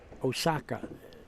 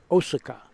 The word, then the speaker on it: Osaka: Murray Gucci you're right all Japanese words end in a vowel and they do not have an accent and any syllable you know when you hear that city people in America they call it Osaka Japanese say Osaka Hiroshi Shima there's no